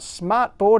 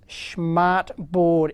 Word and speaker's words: SchmartBoard: That's a No, it's not Smartboard. It's Schmmart Board. If I'm pronouncing that correctly, and I had heard of these.